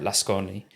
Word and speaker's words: Lasconi: the BBC, and Elena Lasconi. It might be Lascon, I think you don't pronounce the I on the end, but who's sort of centre left or quite a centrist candidate.